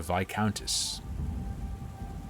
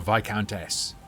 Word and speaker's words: Viscountess: her sister was a Viscountess. Or Viscountess, to say it properly.